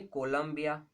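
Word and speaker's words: Columba: ठीक है जी, नेक्स्ट आप लिखिए कोलंबिया, कोलंबिया is pigeon. Okay, कोलंबिया तो कंट्री है, इसको कोलंबा बोलते हैं, कोलंबा इज पीजन।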